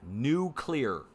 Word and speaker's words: nuclear: How do you say it? Nuclear. Nuclear. N-E-W-C-L-E-A-R. Say it like that. Nuclear.